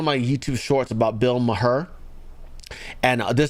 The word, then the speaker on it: Maher: You got to pronounce it properly. It's Maher. It's Mayor. I go, he should have spelled it M-A-Y-E-R or M-A-Y-O-R.